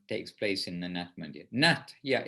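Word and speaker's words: natya: the nutmeg not yeah it's actually n-a-t-y-a it's actually but that in bengali the why after a letter um doesn't necessarily get always pronounced when it's in the middle of a word it generally emphasizes the letter that's after it but it's certainly we're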